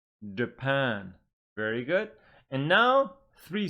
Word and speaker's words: Japan: me China turkey good here again two syllable words but the stress is on the second syllable please repeat after me Brazil Brazil Japan Japan very good and now